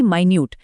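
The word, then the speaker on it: minute: जैसे समय बताने वाला मिनट यानी कि मिनट और किसी चीज का बहुत सूक्ष्म विवरण बताने वाला मिनट यानी कि माइन्यूट।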